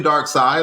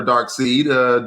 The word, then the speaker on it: Darkseid: Yeah, I think that's Brainiac, and that's definitely Darkseid or Darkseid, depending on who's pronouncing it, because I have heard it both ways.